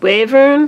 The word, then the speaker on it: Wyvern: It's pronounced Wyvern.